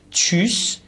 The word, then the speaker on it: tschüss: دقت بفرمایید کلمه آخر TSC ها گفتیم، همون TSCH رو وقتی به دنبال هم باشه چه تلفظ میکنن، چیس یعنی خدا حافظ، چیس.